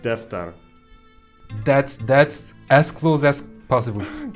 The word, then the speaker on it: defter: And defter. Defter. Defter. Defter ends with an R. Defter. That's very good. That's correct. Now combine it. Dağıtık defter.